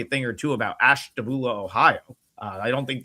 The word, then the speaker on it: Ashtabula: Well, it's pronounced Ashtabula.